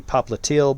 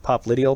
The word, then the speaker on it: popliteal: I like to mispronounce it's actually popliteal but I like pop lydial because it really emphasizes the because that's how I